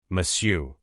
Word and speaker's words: monsieur: Beaucoup de gens ont tendance à prononcer toutes les lettres, mais il faut bien insister sur la nasalisation et ne pas prononcer le R final.